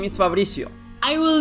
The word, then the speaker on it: Fabricio: I'm sorry why not it's easy it's like Fabrizio yes like this with my Polish accent I cannot pronounce anything correctly don't worry you say correct I just don't wanna like embarrass myself Fabricio is right it's right you're like